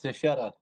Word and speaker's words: Tetta: with us T how do you say your last name man it's tetta tetta all right but a little bit better yeah nice so so